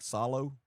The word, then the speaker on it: Soileau: Salu is pronounced like swallow, so it's like salo.